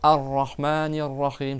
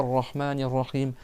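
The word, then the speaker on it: الرحمن الرحيم: Donc si tu t'arrêtes après le mot Allah tu vas reprendre en disant arahmanirrahim je dis pas rahmanirrahim et ça ça apparaît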